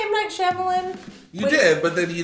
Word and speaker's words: Shyamalan: M. Night Shyamalan.